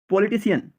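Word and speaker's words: politician: তখন আমরা সেই শব্দের শেষে CIAN এর সন উচ্চারণ করব। Musician, musician, musician. যেমন পলিটিশিয়ান, পলিটিশিয়ান, পলিটিশিয়ান।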